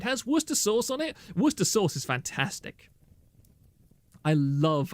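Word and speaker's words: Worcestershire: recipe I'll sub to to Kira if she pronounces Worster sauce correctly imagine not IND doying Dion wash your sister sauce yes um the plebians call it War Chester Shire SCE uh those kind of people should be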